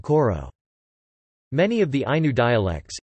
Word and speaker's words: kor: For example, some words, such as kor meaning to hold, are now pronounced with a paragoge, as in koro.